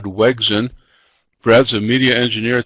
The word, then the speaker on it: Wegrzyn: pronounce his name, and he said that the R is silent, so I think Bad Wegrzyn is probably the wrong way to say that, so I'm going to introduce him as Brad Wegrzyn.